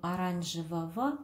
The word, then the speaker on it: оранжевого: Также обратите внимание, говорим оранжевого, а пишется оранжевого.